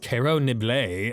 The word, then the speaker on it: Carrot Nibbles: oath to fine taste his name is Carrot nibbles pronounced Caro nibl and don't get it wrong my apologies for getting